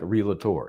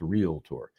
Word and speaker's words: realtor: Not unlike realator. It's not real. People who say realtor are not only adding an extra syllable, but they're putting an L kind of in the wrong spot. Realator. No, it's realtor.